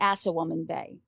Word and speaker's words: Assawoman Bay: So not the Chesapeake Bay, but in this case, we're looking at the Assawoman Bay. And yes, that's spelled like it sounds.